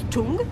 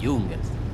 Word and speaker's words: Young: Tu es sûr que ça se prononce Young? Ce serait pas plutôt Chung ou Jung? Non, t'es pire que les enfants, c'est Young. Mais je sais, chérie.